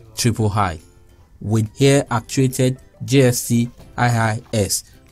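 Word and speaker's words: JST-III: is the gst iii for the purpose of this recitation shall be pronounced as triple high with hair actuated jst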